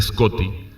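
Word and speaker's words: Scoti: El Irlandés de Irlanda ya que el Escoto pronunciado originalmente scotty era el nombre genérico usado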